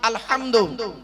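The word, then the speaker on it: الحمد: আলহামদু। অনুরোধ করে বলছি উচ্চারণটা ঠিক করুন। আলহামদু। গলার ভেতর থেকে ফেটা উচ্চারণ করবেন।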